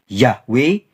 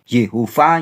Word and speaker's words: YHWH: bbel disebut sebagai yhwh ada yang bacanya y hwh yahwe Yehova yehua dan sebagainya ada juga menyebutnya hasyem